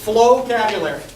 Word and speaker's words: Flowcabulary: Anybody familiar with flowcabulary? I did not mispronounce that. That's how it's pronounced.